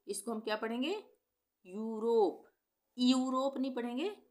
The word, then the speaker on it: Europe: जैसे EUROPE, यहाँ पे EU एक साथ आ रहा है स्टार्टिंग में, तो इसको हम क्या पढ़ेंगे, यूरोप, यूरोप नहीं पढ़ेंगे, यूरोप पढ़ेंगे।